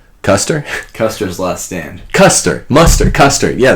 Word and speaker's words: Custer: Custer? Custer's last stand. Custer. Yeah, there it is. Custard. General Custer. Yes, at the Civil War. It rhymes with it. Colonel Mustard, General Custer.